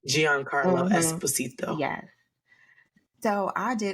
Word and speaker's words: Giancarlo: So, and it's got who we talked about, how do you say his name? Giancarlo, I believe is how you say his first name. Giancarlo Esposito.